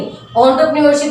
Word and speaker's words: entrepreneurship: सबसे पहले तो आप ये समझ लीजिए इसकी pronunciation, this is एंटरप्रेन्योरशिप, एंटरप्रेन्योरशिप not enter, ई नहीं, एंटरप्रेन्योरशिप इज द प्रोनाउंसिएशन।